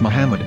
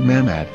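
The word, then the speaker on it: מחמד: after the H according to Ben yehuda's Hebrew English dictionary it is correctly pronounced as Muhammad not mammad so how we're going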